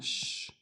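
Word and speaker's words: شين: You hear sh- sha shi shu.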